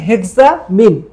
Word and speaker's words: হেক্সামিন: তো এইটার সাথে একসাথে এটাকে উচ্চারণ করা হয় হেক্সা নিয়েছে হেক্সার হেক্সামিথিলিনের হেক্স আর তোমার অ্যামিনের মিন তাহলে এটার নাম হচ্ছে হেক্সামিন একসাথে হেক্স আর অ্যামিনের মিন হেক্সামিন একসাথে যুক্ত নামকরণ করার সময় হেক্সামিন